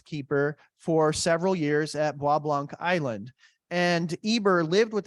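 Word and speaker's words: Bois Blanc: has ever been to blablanc Island um often pronounced boys blank Island it's near Mackinac Island um it's it's really neat well Eber Ward's father was the Lighthouse Keeper for several years at wobblanc island and Eber lived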